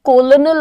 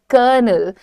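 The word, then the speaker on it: colonel: से यह कंफ्यूजन है पर इसका correct pronunciation is कर्नल हाउ डू you pronounce it आर पे जोर आप कम दीजिए आप क्या कहेंगे क क कनल बोलने की जरूरत नहीं है इट इज कर्नल कर्नल null null is the sound so इसको प्रैक्टिस करो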